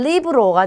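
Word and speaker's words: libro: 자, 엘레는 기본 발음이 리을이에요. 그래서 영어랑 똑같다고 보시면 돼요. 그럼 첫 번째는 리브로가 되겠죠. 얘는 책을 뜻하고요. 자, 이 다음은 레체입니다. 얘는 우유를 뜻해요. 그리고 루나 하면 달을 뜻하는 단어예요. 그래서 전부 다 리을로 발음이 돼요.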